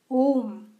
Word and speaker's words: Om: But anhat nada, om, is an unstruck sound.